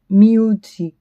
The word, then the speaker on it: Mewtwo: Manipato, Yadon, Fushigizo, Rizado, Mewtwo is Mew, it's a long U, so it's like Mewtwo.